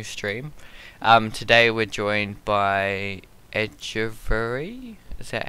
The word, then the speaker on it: Angevere: Today we're joined by Angevere. Is that how you say it? Everyone pronounces it differently. Angevere.